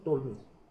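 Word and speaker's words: Ptolemy: Figure 1 show सबसे पहले जो मैप बनाने की कोशिश की वो टोलमी, इसमें देखिए पी साइलेंट है, टोलमी बोलते हैं उसको, टोलमी मैप ऑफ द वर्ल्ड।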